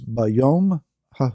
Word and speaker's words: B'yom haHu: a Hebrew phrase that is often used is bayom Hao if you want to transliterate that you could spell it capital B apostrophe y m bom Hao